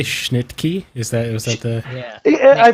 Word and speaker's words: Schnittke: Did you say Schnittke? Was that the? Yeah. I've heard it pronounced both Schnicke. I've heard it both. I think it's Schnicke though, is how it's pronounced.